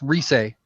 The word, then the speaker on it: Rise: It's the character's name is pronounced Rise.